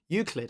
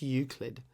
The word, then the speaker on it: Euclid: pronounced eclip include no Euclid I think it's Euclid um probably but I I